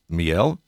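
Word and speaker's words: Miel: pronouncing this correctly it's Mel yep that's right just like the French word for honey basically we know very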